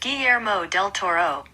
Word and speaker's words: Guillermo del Toro: According to Hollywood Reporter, pronounced Guillermo del Toro.